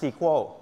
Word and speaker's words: SQL: ๆ ครับ ก็ คือ ค่าย ที่ เรียก ว่า C SQL นะ บาง คน จะ อ่าน ว่า sequel นะ ครับ แล้ว ก็